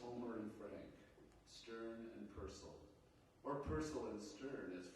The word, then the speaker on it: Purcell: his, he'd invited Frank Purcell. Like the composer, he invariably said, on being introduced, in case someone might mistakenly put the accent on the second syllable.